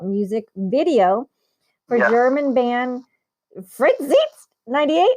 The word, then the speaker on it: Freizeit: video for German band Freizeit 98. How do you say it? Yes, it's Freizeit.